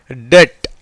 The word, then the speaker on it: debt: DEBT. பிக்கு அடுத்த எழுத்து என்ன இருக்குது? டி இருக்குது. அப்போ இந்த பிக்கு உச்சரிப்பு கிடையாது. இது எப்படி உச்சரிக்கலாம்? DE வந்து இட் ப்ளஸ் ஏ, டே. அப்புறம் பிக்கு உச்சரிப்பு கிடையாதுனால என்ன தான் வரும்? மிச்சம் இருக்க எழுத்து இட், டெட்.